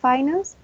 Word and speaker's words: finance: So the first word is finance. It has 2 syllables, and the stress is in the first one.